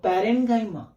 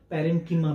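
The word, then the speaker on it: parenchyma: सी, कौन कौन, तो पैरेन्काइमा, कॉलेनकाइमा और स्क्लेरेन्काइमा। कई जगह इनका प्रोनाउंसिएशन पैरेन्कीमा भी रहता है, पैरेन्कीमा, कॉलेनकीमा और स्क्लेरेन्कीमा दोनों चलता है।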